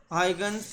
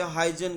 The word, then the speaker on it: Huygens: हाइगन्स principal stated by Dutch scientist Christian हाइगन्स। अक्सर student इसे गलत प्रोनाउंस कर देते हैं, वो इसे हाइजन कहते हैं। ओरिजिनली ये क्रिस्टियान हाइगन है।